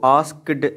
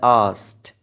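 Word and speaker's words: asked: एक बात याद रखिएगा इसको एस्क्ड नहीं बोलना होता है यह होता है अस्त ए मैंने एक प्रनंसीएशन वीडियो में इसको एक्सप्लेन किया था की काफी सारे स्टूडेंट्स जिसको मिस प्रोनाउंस करते हैं तो यह एस्क्ड होता है यहां पे के साइलेंट है और दी टी के साउंड से चेंज हो जाएगी ये प्रनंसीएशन का एक रूल है एंड एस्क्ड हिज फ्रेंड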